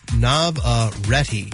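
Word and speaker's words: Navarrette: Uh, Indie Navar Nav, I'm sorry. Navaretti is how you say her name.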